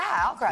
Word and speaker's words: Alcaraz: And he's facing off against his fellow Spaniard Carlos Alcaraz. Is that how you say it? Yep. Yeah, Alcaraz. Yeah.